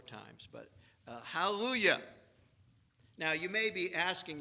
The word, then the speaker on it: hallelujah: Forget there's a J, just pronounce it like a Y.